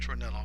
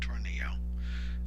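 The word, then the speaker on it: Tornillo: case of Miami Herald versus torello it is pronounced torello not Toro uh there was a Florida statute requiring that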